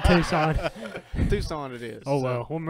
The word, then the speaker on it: Tucson: Tucson or something.